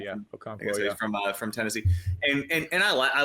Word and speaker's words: Okonkwo: But I do think one guy who will probably be pretty chalky is Chig Okonkwo. That's how you say his name. Yeah. Okonkwo, from Tennessee, and I like him.